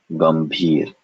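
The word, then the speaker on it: गंभीर: So this is nothing other than a ma sound. The dot represents ma. It's in a conjunct with bhi. And so this word is pronounced gambhir.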